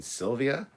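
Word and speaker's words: Silvija: who's sophia you mean sylvia my wife sylvia and it's spelled s-i-l-v-i-j-a j is silent she's croatian um usually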